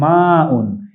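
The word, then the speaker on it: ماء: পানিকে আরবিতে বলা হয় মাউন। এই যে মাউন এটি আইন নয়। হামজা। আমরা মা উন বলব।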